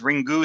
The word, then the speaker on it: Ringu: Um, that's how they say it though. Yeah, they say ringu, you know, is is their phonetic system.